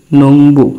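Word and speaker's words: 농부: নিচে দিলাম উ বু নং বু বিউবের উচ্চারণ এখানে বয় হলো সে শুরুতে থাকলে ফ হইতো বা এরকম শেষে থাকাতে ব হলো এটা হলো নংবু নংবু অর্থ কৃষক আমি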